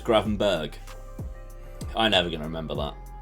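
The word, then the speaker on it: Gravenberch: good header as well the ch in granbatch is pronounced the same way as patrick berg so it's gravenberg i'm never gonna remember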